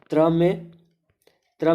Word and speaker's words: त्र: त्र में भी दो वर्ण, जैसे आधा त, आधा त, और उसके बाद फिर र, उसके बाद फिर र। त्र, त, र, आधा त, र, तर, त्र।